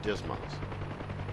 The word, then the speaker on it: DSMS: stores management system or dsms often pronounced dismas we'll conduct this lesson